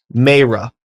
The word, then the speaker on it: Mayreh: Mayreh. You got it. You got it. Boom! Yes. We're fucking done, baby. Woo! All right. You might be the first one to get it. Welcome to the show, Mayreh.